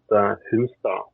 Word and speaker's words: Hunstad: It's one of those names that is very Norwegian, so it would be pronounced Hunstad. Hunstad, right. The D is softer.